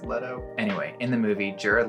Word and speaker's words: Leto: name is jared leto pretty sure it's leto anyway in the movie jared leto's character is recounting his